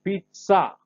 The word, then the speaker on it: pizza: The Z, any of the European languages, including Italian, the Z, Americans call Z, is pronounced with a T. Okay, so we say pizza, not pizza, pizza.